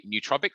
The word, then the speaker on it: nootropic: nootropic or nootropic um i just say nootropic same as what you're saying as if it's like new as in something that's not